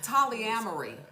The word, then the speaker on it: Tolyamory: What's Tolyamory? I think I said it right. I can tell you it rhymes with foolery.